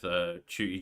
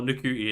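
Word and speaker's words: Ncuti Gatwa: his mum of like, your name's not Chuti, you're pronouncing it wrong. Like, it's like Ncuti or Ncuti, is it? Yeah, it's Ncuti.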